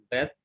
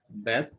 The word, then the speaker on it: Beth: Beth, Mem, and Pe. Now, each one of you pronounce this letter. Beth, Beth, Mem, Mem, Pe.